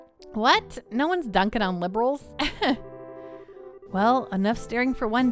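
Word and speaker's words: Liberl: Corsican, as an aside, I refuse to announce it liberal. Just to avoid any political implications, I pronounce it liberal. Fair. I think that in Cold Steel they might call it liberal. But I'm not saying liberal, like a liberal. I'm saying liberal. Like I'm like not pronouncing I'm not pronouncing the A, I guess. I'm just saying liberal.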